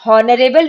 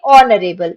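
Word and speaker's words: honourable: इसको कैसे पढ़ेंगे, हॉनरेबल नहीं पढ़ते हैं, इसको पढ़ेंगे ऑनरेबल।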